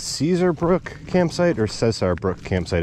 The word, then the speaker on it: Cesar Brook: caesar brook campsite or cesar brooke campsite it's spelled c-e-s-a-r so it's not like caesar caesar but um names don't have rules so it could be anything and uh got a